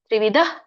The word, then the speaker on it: ತ್ರಿವಿಧ: ಇದೆ ಹಗೆತ ಕೆ ಕರ್ತೇತಿ ತ್ರಿವಿಧ ತ್ರಿವಿಧ ಧ ದೊಡ್ಡದು ಮಹಾಪ್ರಾಣ ಇದೆ ತ್ರಿವಿಧ ಕರ್ಮ ಸಂಗ್ರಹ ಇದರ ಒಂದು